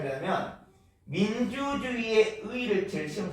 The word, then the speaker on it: 민주주의의: 둘째 음절 이하에서부터는 의도 발음할 수 있지만 그냥 이라고 발음할 수도 있습니다.